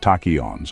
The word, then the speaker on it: tachyons: Tachons, pronounced tachons, are hypothetical particles.